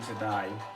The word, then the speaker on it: Zadai: If you've heard of Prophet Kevin Zadai, I think that's how they say it. Kevin Zadai.